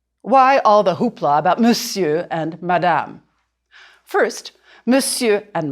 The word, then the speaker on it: monsieur: You can draw a line through the R, the R, to remind you not to say it.